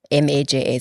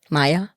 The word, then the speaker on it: Maja: M-A-J-A. So Maja. But Afrikaans Maja, okay. people assume it's a Y, right? Maya. Maja. Yeah, they say Maya.